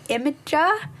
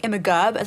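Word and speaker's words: Imgur: options that's linked to how do you say it imager yeah IM yeah that's how you say it isn't it I always think imig know that's not right um that's yeah link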